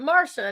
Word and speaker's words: Marcia: So I'm not used to My mom's like, "We're gonna spell it Marcia, but we're going to pronounce it Marsha and make everyone confused."